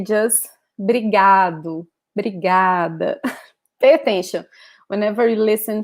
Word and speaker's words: obrigada: yourself as a man, you say obrigado. And if you're a woman, you say obrigada, okay? So just this last word here, last letter here differs, okay?